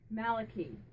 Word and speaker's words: Malachi: Now Malachi, do you pronounce it Malachi? Or do you pronounce it Malachi? Malachi. You prefer Malachi.